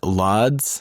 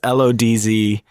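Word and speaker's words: Łódź: He would later go on to study film at Lodz Film School.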